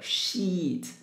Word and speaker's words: sheet: wardrobe wardrobe rug sheet you have to pay attention to this word because double e it pronounced e a longer one so sheet don't pronounce the short one no not correct okay